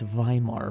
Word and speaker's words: Weimar: just some stupid memes they love hitting that v in Weimar oh that's right it's viar oh my God they